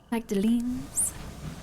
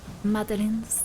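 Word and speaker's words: Magdalen: always bunnies bouncing about magdalin madalin there we go silent G grab another for report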